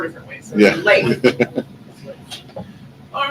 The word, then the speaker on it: Leif: And I actually asked because I've heard it pronounced 4 different ways. So Yeah. Leif.